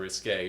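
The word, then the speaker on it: risqué: came into question when you used risky instead of risque but anyone can make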